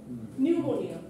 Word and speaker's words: pneumonia: বলি না so Illinois or the p in pneumonia pneumonia তারপর মানে সুনামি আছে tsunami you are making a mistake in pronunciation regardless of how precisely you articulate the sounds so আপনাকে আর্টিকুলেটলি আপনার